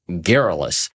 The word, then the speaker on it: garrulous: We're back, and the word of the day is garrulous. Garrulous. It's a tough, I keep pronouncing this one wrong because it doesn't look like that when I spell it out, but it does mean containing many or often too many words.